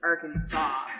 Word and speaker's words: Arkansas: in our language language Arkansas like saw as an SI w like a soft group according okay so the S on the end is simply a French addition to a silent one